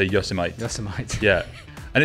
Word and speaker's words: Yosemite: And he's saying, anyone else pronounce Yosemite like Vegemite? Lol. Did you get the same one? No, but I get that. Go on then, pronounce it like Vegemite. Yosemite.